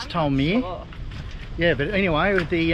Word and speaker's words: Tolmer: If that's how you pronounce it. it is Tolmer.